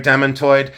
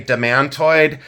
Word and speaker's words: demantoid: almost 99% sure they're demonoid some people say demantoid I say demonoid but either pronunciation is fine um but demantoid or